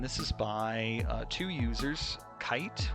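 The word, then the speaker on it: Kaight: And this is by two users, Kite, which is spelled K-A-I-G-H-T, and Corrupted Audio is the second one.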